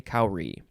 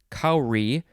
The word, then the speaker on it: kauri: the shell of a cowrie is called a kauri the family name that they are in is sepridai saprayadai something like that this is from the hindi and urdu word kauri which is spelled k-a-u-r-i it is a gastropod